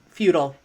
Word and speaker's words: futile: British pronunciation of futile usually feudal is the way to pronounce it though that's the correct way examples are despite their